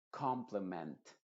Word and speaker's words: complement: Hay algunas excepciones como complement, en donde la me se pronuncia bastante clara, igual que en español.